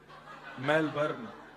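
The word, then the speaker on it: Melbourne: मेलबर्न। मैंने कहा नहीं मेलबर्न। र जो है वो साइलेंट बोलो तो लेकिन हुआ क्या यहां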